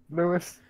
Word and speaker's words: Lewis: Hey, Ripstar, do I pronounce it Lewis or Louis? Is it Lewis? Lewis.